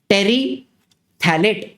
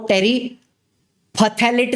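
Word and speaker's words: terephthalate: समझ के लो, पॉलीइथिलीन टेरीथैलेट। अभी वो जो इधर आपको टेरीफथैलेट दिख रहा है, टेरीफथैलेट, वो फ साइलेंट है, टेरीथैलेट पॉलीएस्टर, ठीक है, पॉलीइथिलीन टेरीथैलेट पॉलीएस्टर।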